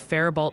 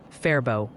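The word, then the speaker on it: Faribault: People are still gently correcting your pronunciation. Think Fairbow, maybe. And very concerned about a certain cat sanctuary dodging the storm. Fairbow. I'm pretty sure I said Farbo.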